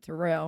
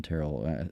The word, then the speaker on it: Terrell: them uh at least Terell yeah spelled like Corell but just uh you know west of Louisiana he hates when people pronounce it ter you know but now